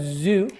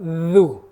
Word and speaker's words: ذُ: Instead of zu, all we have to do is put our tongue out. Dhu. Try putting your tongue out and pronouncing it, and that's how dhal comes out.